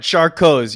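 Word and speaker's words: Charcot: shark cots all right charcoals you're right the t is silent like the pea and toilet right all right charcoal's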